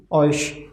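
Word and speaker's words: euch: ch we have eu whenever eu will come before ch then as well pronunciation of ch will be sha c we have just discussed in earlier earlier video that pronunciation of eu will be oil oil right so oy sure okay so oysh overall pronunciation of this word will be oish ish and it means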